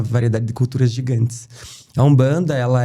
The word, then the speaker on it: Umbanda: Então o M tem a pronúncia de um e dentro do Brasil virou um banda, né?